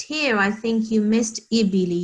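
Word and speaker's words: الإبل: But here, I think you missed ibili. You were saying ilal bili, and this is alif here with kasra underneath. So we have to say ibili.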